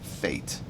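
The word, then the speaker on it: Fête: It's actually fate. So I put those two things together, and fate, I guess that might be the English pronunciation of it, is how you say this place. And it means celebration in French.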